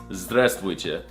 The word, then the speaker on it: здравствуйте: No, that's not how you say it. It's здравствуйте. Did you not learn anything from this video?